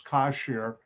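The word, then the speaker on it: כשר: are the consonants and this is pronounced kosher and by the way this whole thing is kosher le pesa and notice they have the english now actually it's cashier but united states that became changed to kosher and in different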